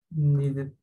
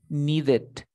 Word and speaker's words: needed: Needed. Needed.